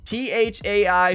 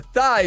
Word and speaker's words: Thai: Okay, so then how do you pronounce THAI spinner shot? Oh, I get it. Yeah, that's fair. The Thai spinner, not the thigh spinner.